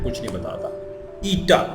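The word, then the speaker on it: η: ईटा, ये जो एन की शक्ल का है इसको हम ईटा पढ़ते हैं, और ये क्या होता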